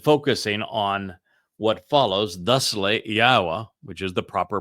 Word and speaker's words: Yahowah: a transition and focusing on what follows thus Yahwa which is the proper pronunciation of Yahwa our elawah god as directed